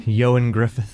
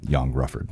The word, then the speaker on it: Ioan Gruffudd: Ioan Gruffudd. Gosh, he really should spell it differently.